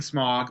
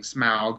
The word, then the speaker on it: Smaug: I like saying smog, but everyone's saying smaug, which just sounds weird.